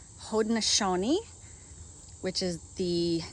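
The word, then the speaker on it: Haudenosaunee: there's the let's see my neighbor just taught me how to pronounce this yesterday hodneshoni which is the name of the group of local native american tribes from this area these are haraneshoni skunk beans also anasazi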